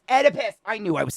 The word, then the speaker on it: Oedipus: could you you've made it worse how do Oedipus it's Oedipus I knew I was saying it wrong thank